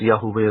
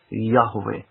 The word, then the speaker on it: Yahweh: It could be pronounced Yahuweh as well, but it's more closely Yahweh with the breath breathing out. Yahweh.